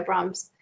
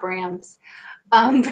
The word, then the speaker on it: Brahms: are playing a piece by Brahms and I was like wolf it's not brands anyways one of the